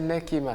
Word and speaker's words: Nekima: prénom nekima voilàimakima nekima donc la prononciation c'est nekima oui c'est nekimaour ça